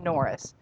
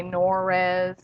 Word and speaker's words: NORES: name was changed to norris you'll hear people pronounce it differently some people say no res i mean whatever it